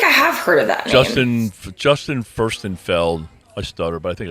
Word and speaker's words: Justin Furstenfeld: Yeah, I feel like I have heard of that Justin Furstenfeld.